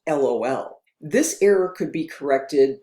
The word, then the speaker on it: LOL: lol problem in text-to-speech the robots may pronounce the common internet slang acronym lol for laugh out loud as lao not lol this error could be